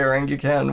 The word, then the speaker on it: orangutan: You know, nobody says orangutan. Yeah, I think I tried forcing myself to say orangutan when I like learned that was it's the so pronunciation, pretentious.